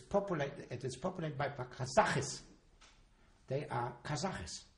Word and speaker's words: Kazakh: And it's populated, it is populated by Kazakhs. They are Kazakhs. They're not Kazakis, Kazakh.